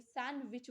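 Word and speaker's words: sandwich: silent इन word सैंडविच सैंडविच में कौन सा वर्ड साइलेंट है तो आपका डी है हम जब आप बोल कर देखिए सैंडविच बोलते हैं आपका सैंडविच नहीं बोलते हो डी आपका यहां साइलेंट हो जाता है नेक्स्ट क्वेश्चन है चच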